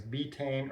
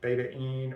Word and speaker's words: betaine: Um there's another pathway um that I've heard it pronounced different ways. Betane or beta dependent pathway another name for betaine or betane is TMG trimethlycine.